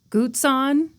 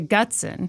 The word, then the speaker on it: Gutzon: designed Mount Rushmore as guton um and then later in the episode I realized I was pronouncing it incorrectly so I just corrected myself to gson MH which sounds like